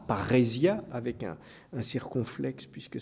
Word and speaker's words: parrhésia: Et la parrhésia, c'est c'est un terme grec, hein, qui s'écrit très simplement p a deux r e s i a, parrhésia, avec un un circonflexe puisque c'est un état en grec.